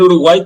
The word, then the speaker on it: Uruguay: y la provincia del Uruguay tiene nombre en guaraní solo que en guaraní la y se pronuncia como una vocal extra eh sería urugua que significa agua del